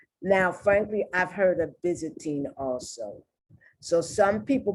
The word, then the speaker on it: Byzantine: frankly i've heard of byzantine also so some people pronounce the why once it's not a short word also pronounce the y as the long i and other people pronounce the y in this word in